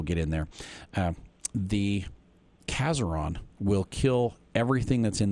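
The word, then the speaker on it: Casoron: bunch that we'll get in there um the ceron will kill everything that's in the raspberries except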